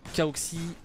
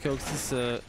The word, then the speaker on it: Kaoxys: Donc il y a moyen que ça passe encore pour la formation emmenée notamment par Kaoxy. On va prononcer le S à la fin. Donc Christophe Kaoxys Suarez.